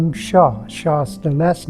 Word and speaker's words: Hsia: is my Fred and Sh spells HS i a is a fanatic translation from Chinese pronounced Sha Sha means summer in